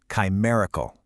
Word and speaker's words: chimerical: It's four simple syllables. Ready? One, chi. Two, mer. Three, e. Four, cal. Chimerical. Now, notice that second syllable. That's the anchor of the whole word, and it rhymes perfectly with berry.